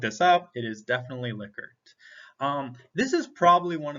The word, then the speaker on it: Likert: format the next type of closed-ended question is liquid scales and yes it is pronounced liquids not likerts like you hear a lot of people say i've looked this up it is definitely liquored um this is probably one of the most